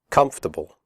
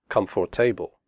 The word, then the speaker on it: comfortable: we say debt comfortable the word comfortable has three syllables not for the o.r is silent we say comfortable not comfortable comfortable clothes the final